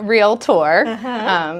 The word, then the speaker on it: realtor: under their skin so it's a real tour so that's the proper pronunciation so that's the first